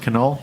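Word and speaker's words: Knoll: g e r yoger that's another one uh canol k n o l l canol it's pronounced canol yes now give me those are the beautiful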